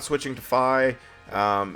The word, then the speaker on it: Fi: before the mission starts says it's fi like she said fi so I'm assuming it is f you know because that's an official pronunciation by Nintendo excuse me gross um